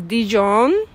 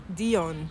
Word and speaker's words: Dion: So short and sweet, my guest name is Dijon. I always keep pronouncing it wrong, but it's correct, right? No J. Dion.